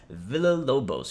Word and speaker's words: Villalobos: man pretty dope sebastian villalobo spoke to stream i said your name right villalobos you know why i said it right because i have another friend who has that exact same last name but again michael martin